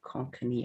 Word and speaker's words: Konkani: you would you could you say something konkani konkani i don't know how to pronounce this yeah that's right that's how we